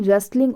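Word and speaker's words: rustling: कैसी आवाजें जैसे कि रेस्लिंग ऑफ ली थी यह बेटा जो वर्ड आपको ध्यान देने की जरूरत है यहां पर कि यह रिफिलिंग नहीं है ठीक है यहां पर टीम साइलेंट है यह है रेस्लिंग ऑफ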